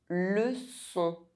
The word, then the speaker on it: leçon: Si cédilla is pronounced S. Leçon, ça.